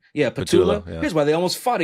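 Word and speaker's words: Patullo: Yeah, Patula.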